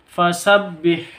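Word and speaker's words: فَسَبِّحْ: Ini fasabbih ini dibaca pendek. H-nya jangan sampai ketukar dengan ko. H-nya ini di tengah tenggorokan keluarnya. Fasabbih begitu.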